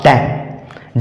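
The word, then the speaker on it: damn: मतलब होता है स्रोत आगे है डी ए एम एन डी ए एम एन एम के बाद इसमें भी आया है तो इसमें भी हम यन का उच्चारण नहीं करेंगे और सही उच्चारण इस शब्द का होगा डैम डैम डैम का मतलब होता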